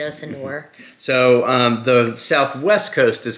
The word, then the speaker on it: Sanur: It's called Sanur. Sanur, and I've been calling it Sanur this whole time, and then I heard someone who's been to Bali said Sanur. I thought John was saying it wrong, but it turns